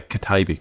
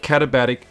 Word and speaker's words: Katabatic: and admittedly kab see I have trouble pronouncing catabatic I always used to say kabic you know I'm getting it I'm getting there and catabatic say this is the